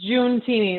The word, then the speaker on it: Giuntini: mine thanks steve um it's pronounced june teeny like the month of june june my husband is